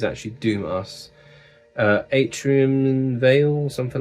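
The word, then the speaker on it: Doom:VS: is some Swedish Doom this is Doom us but it's spelled Doom vs and I looked it up cuz for years I used to call them Doom vs but it's Doom us but he thought the V looked cool and wanted it as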